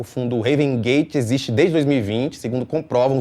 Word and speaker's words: Raven: Porque assim, Raven Gate, e gente, é Raven Gate mesmo, não é Heaven, porque não é do para, é sem o A, né? Sem o E, o melhor, né? Raven, se escreve Raven Gate mesmo. Não é Heaven, de paraíso.